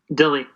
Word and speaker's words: Dille: Flint Dille Flint Dille how do you pronounce his name Dilli yeah yeah yeah and him and the